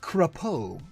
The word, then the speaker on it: Crapo: It's pronounced Crapo.